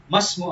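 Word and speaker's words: ما اسم: Ma Ismu Abika. But when we combine them, when we read them, Masmu Abika. That alif should be written there, but it will not have any pronunciation.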